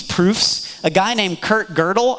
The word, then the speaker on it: Gödel: a guy named Kurt girdle I know his name looks like gödel but it's pronounced girdle I don't know why